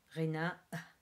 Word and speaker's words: غناء: So singing غناء is, again, the peculiar thing here is the G in غ. It's a little bit like نغني, which we said it's the way the Parisians pronounce their R. So غناء, and it ends with a glottal stop after the last A.